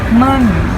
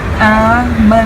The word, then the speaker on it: Almond: เรา เรียก ว่า M Almond bu แม ออก เสียง ได้ 2 แบบ นะ จ๊ะ แม ก็ ได้ หรือ อม ก็ ได้ เดี๋ยว ชิม ให้ ดู